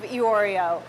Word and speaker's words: Iorio: the popular restaurant In the Kitchen of Iorio. Yes, that's how you pronounce it.